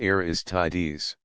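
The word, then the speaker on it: Aristides: trying to be leader one was named the mytical pronounced the mystics and the other aristes pronounced aristes notice how many Greek names seem to end in es the mysticals urged the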